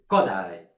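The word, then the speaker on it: Kodály: More attention to the so-called Hungarian language, because in Hungarian language always the first syllabus is strong. It's Bartok, Kodai, Igen.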